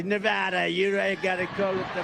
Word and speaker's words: Nevada: we love it and you always have to say it correctly Nevada you got to go